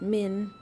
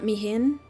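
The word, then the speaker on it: Mhin: Min, not Miin.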